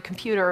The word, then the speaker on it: computer: the telephone from the computer or whatever they did with him. Computer, computer. They're all saying that with a flap. Computer, a flap instead of t, a T sound. Computer, computer, middle syllable stress.